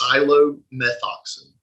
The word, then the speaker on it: Psilomethoxin: How would you pronounce it? It is Psilomethoxin. Right. Psilomethoxin.